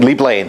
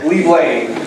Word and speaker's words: Leeblain: I always have a problem pronouncing it. What is it? Leeblain? Leeblain. Leeblain.